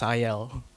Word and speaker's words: SIAL: So one of the godfathers of, and it's not pronounced Sial, it's pronounced Sayal. This is Australian English.